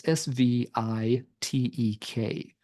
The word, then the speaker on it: Svitek: They did have one guitarist exit the band, and the replacement was Louis Svitek. Sorry for the pronunciation. It's Svitek.